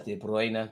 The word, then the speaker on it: De Bruyne: Pronounced as De Bruyne, DG.